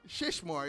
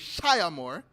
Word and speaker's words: Shia Moore: It's not Shishmore, it's Shia Moore. So I was pronouncing it incorrectly.